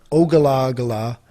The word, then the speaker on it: Ogallala: name the rights are over enough of the ogallala so hard to pronounce o-g-a-l-l-a-l-a aquifer this dude had 65 billion